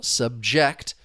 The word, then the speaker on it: subject: The stress is on the first syllable and we're referring to the thing being discussed.